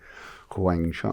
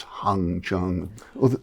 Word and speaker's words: Wang Chung: Let's go with that, The spelling of it was originally Huang, Wang Chung, although that's just the English spelling of it. But that seemed to confuse people, couldn't pronounce it. So they'd call us Hung Chung.